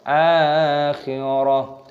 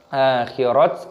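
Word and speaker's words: الآخرة: sukun, yakhafunal, seperti itu, akhirah. Di sini taknya ketika berhenti, tak marbutohnya maka diganti menjadi hak, bukan akhirat ataupun akhirata.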